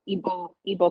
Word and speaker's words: Igbo: So I started looking into Igbo culture, which is IGBO. The G is silent.